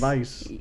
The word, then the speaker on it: Weisz: Because it's spelled with a W, but I think it's pronounced Weiss. But she says it Weiss. Oh, does she? I've heard it always just Weiss.